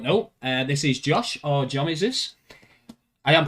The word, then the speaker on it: Jomeseus: So, guys, for those of you that don't know, this is Josh, or Jomeseus. I am pronouncing that right. Yeah, Jomeseus. It's just a tag. It can be pronounced either way.